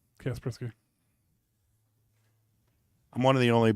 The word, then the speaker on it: Kaspersky: Kaspersky. I'm one of the only people that can pronounce that because it used to be a virus scanning software back in the 90s. Kaspersky.